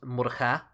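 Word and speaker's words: Murchad: The CHAD part would have been pronounced Cud in Old Irish. So names like Murchud and Donachud in Munster, but are today pronounced Murcha. So this would be Féilchud.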